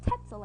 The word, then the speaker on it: Tetzel: But then this guy named Tetzel enters the scene, and good thing his name rhymes with pretzel, because he is just as twisted as one.